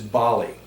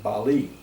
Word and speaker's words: Bali: pronounce this island is bali a's are always ah bali and eyes are always e or like in bali bah-li another quick example is